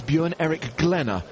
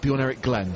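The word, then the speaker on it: Bjørn-Erik Glenne: with your expert Norwegian you can tell me that it's bu Eric glenner and not be on Eric Glenn so I was saying it wrong for the entirety of season 3 well he got it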